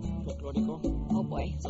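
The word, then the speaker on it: folklórico: Folklorico.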